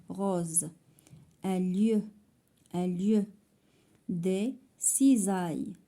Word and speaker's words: cisailles: Des cisailles. Cisailles عاوتاني عندنا s entre deux voyelles, elle se prononce z.